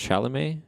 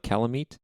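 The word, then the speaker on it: Chalamet: Steve Carell Timothy shalam so his name is pronounced shalam it's not calam like the Dark Souls boss no it's not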